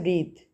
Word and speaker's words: breath: next है ब्रीथ, ब्रीथ, ब्रीथ में ई silent है, ठीक है, BREATH, ब्रीथ,